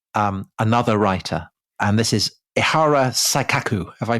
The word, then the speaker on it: Ihara Saikaku: And this is Ihara Saikaku. Have I pronounced that right? Yes, Ihara Saikaku, yes.